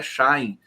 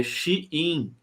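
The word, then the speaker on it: Shein: aqui diz que eh a pronúncia da da empresa de vendas chinesa não é Shine é xin xin deixa eu colocar aqui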